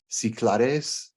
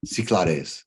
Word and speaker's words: Cyclades: So I checked the pronunciation because it looks like Cyclades, but that's not it. How do you say it again? Cyclades.